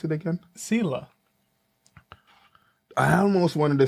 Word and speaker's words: Sylla: Are you telling me how you pronounce it again? Sylla. I almost wanted to say Sylla, but it's... Sylla.